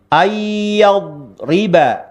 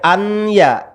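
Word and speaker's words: أَنْ يَضْرِبَ: Ayyadriba. Ayyadriba. Nun mati melebur terhadap huruf ya-nya ya. Tidak boleh an ya, harus dileburkan ya.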